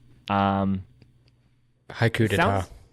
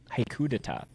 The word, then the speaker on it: Haiku d'Etat: I said I was gonna write this down, how to pronounce it, so I'll just say this one, because I don't want to butcher it. Haiku d'etat. Haiku d'etat.